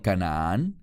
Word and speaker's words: Canaán: El término Canaán, en hebreo, así mismo se pronuncia.